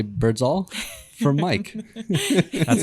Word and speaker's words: Birdsall: And I'm going to say Birdsall for Mike. That's how it's pronounced.